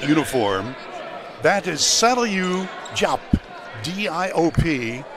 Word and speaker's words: Diop: Now, if you see number 32 wearing the white uniform, that is Saliu Diop, D-I-O-P, pronounced Diop, 6'10", and a freshman from Africa, from Senegal.